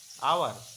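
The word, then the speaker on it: hour: means होता है घंटा यहां पे एच जो होता है ये क्या होता है साइलेंट होता है एच यू आर आवर हम लोग पढ़ते है लेकिन यहां पे अगर एच को लेते हैं तो क्या होता है हावर होता है लेकिन हावर ना होके क्या होगा आवर होगा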